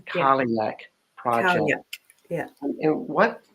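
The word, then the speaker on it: Cailleach: the kaliak project um which I want to spell this word because it looks like that word kaliak but it really uh let's just confuse everybody and uh I'll just spell it out because that's how I get things down c a i l l e a c h that's the calling that project yeah and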